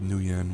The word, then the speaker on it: nuyen: So you'll see a lot of Japanese references in here, like the money called nuyen, which is obviously nu plus yen, even though it's spelled nu.